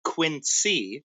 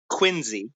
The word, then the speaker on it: Quincy: people are admit that it is not quincy it is quincy is it spelled with the z no it's spelled with a c it was where john